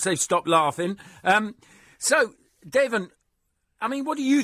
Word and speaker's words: Deven: in practice Think Tank good morning to you Devin good morning Larry goodbye I did pronounce that right did I yeah you did